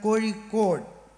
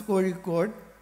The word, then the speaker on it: Kozhikode: is called in Malayalam Kozhikode, which is difficult for you to pronounce, Kozhikode. Only the Tamil and Malayalam speaking can pronounce the Ra, which is not there in other languages.